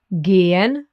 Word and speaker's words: gehen: The letter E is called E in German because it's pronounced like the E in bed or select. For example, in gehen or ente.